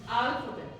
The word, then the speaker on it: alphabet: अल्फाबेट इसको क्या करते हैं मिसप्रोनाउंस, गलत स्ट्रेस कहाँ लगाते हैं? अल्फाबेट अल्फाबेट बोलते हैं ना, अल्फाबेट है ना, फा पे कर देते हैं. अल्फाबेट, इट्स अल्फाबेट.